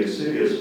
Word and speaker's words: insidious: Loretta's suspicion led her to pose a question with the insidious design of further discovery. May I have the language of origin, please? It's from Latin. Are there any alternate pronunciations? There's one alternate, insidious.